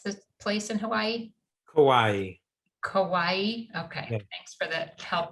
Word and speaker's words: Kauai: awareness in what's the place in hawaii kauai kawaii okay thanks for the help with the pronunciation so michael's services include massage therapy life